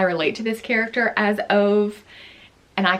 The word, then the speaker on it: Ove: a man called U I know him as o I relate to this character as ove and I call him o in my head but I acknowledge that this is pronounced uve in Sweden or wherever the book has its